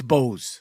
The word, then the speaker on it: Bose: Anyway, so Boz or Bose, let's say, I think it's Bose. It's Bose. It's Bose, right? Because it Yes. was like, it's Bose like the earbuds.